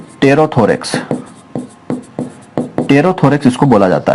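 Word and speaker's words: pterothorax: Meso और Meta दोनों को कंबाइंड रूप से टेरोथोरैक्स, पी साइलेंट इसमें टेरोथोरैक्स इसको बोला जाता है।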